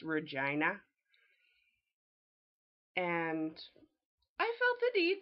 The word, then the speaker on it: Regina: say oh you're from Regina Saskatchewan I'm from Regina the city that rhymes with fun and for some reason people in the states people in Europe they want to call it Regina I understand that's a